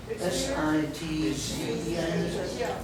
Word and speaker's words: Sitchin: S-I-T-Z-E-N. S-I-T-Z-E-N. Sit-Zen. So it's like the word sit and then the Zen, like Zen Buddhism. Sit, Zen.